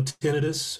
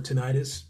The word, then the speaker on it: tinnitus: and then you know tinnitus or tinnitus both both uh pronunciations are are valid um that's that noise